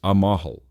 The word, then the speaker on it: amal: Our third key term is Amal, spelled Amal and pronounced Amahal.